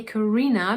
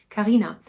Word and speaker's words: Karina: Karina, I always say Karina because I say it English, but her name is pronounced Karina.